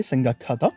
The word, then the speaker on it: 생각하다: On met hata à côté, 생각하다. Vous entendez bien, hein, on a le kiok de kak qui se fusionne avec le hyut au début pour former un kyuk.